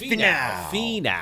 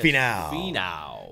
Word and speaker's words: Finau: I didn't even know how to pronounce it. Finau. Finau? Is that what it is? Finau.